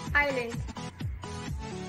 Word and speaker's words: island: S is usually not pronounced at the end of a word, and also before L and following words. Isle, island, islet, debris, apropos.